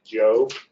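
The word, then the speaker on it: Jho: And the best case to read about that, a seminal case on that, is United States versus Joe, and that's pronounced J, that's spelled J-H-O, and it's a Fifth Circuit case, 2008.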